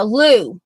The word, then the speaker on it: Lumi: This is Lumi. Yeah, Lou. I remember when Rachel tried to get me to pronounce this correctly, and I was like, and she said like Lou, like the toilet, like the Lou, and anyway.